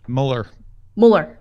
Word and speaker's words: Mueller: I guess just a pronunciation check. Robert Mueller. Mueller.